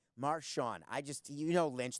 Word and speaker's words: Marshawn: get the first name right khoka can you pronounce his first name please I got it right Marshawn I just you know Lynch the guy with